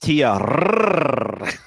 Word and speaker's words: Tia: It's pronounced it's pronounced Tia.